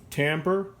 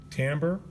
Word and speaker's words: timbre: And I'm going to give you the pronunciation of a word that has a French origin, timbre. So it's cesura, timbre, fine, crescendo.